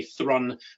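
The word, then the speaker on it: Thrun: a chap called sebastian if you want to say his name correctly the americans do say thrawn but he is a german he has a german chap who uh worked in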